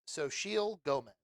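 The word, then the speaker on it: Xochitl Gomez: her i'll i'll i'll give you a little help here heard she it's so she'll gomez okay um so she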